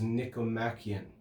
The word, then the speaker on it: Nicomachean: The English pronunciation of it is Nicomachean.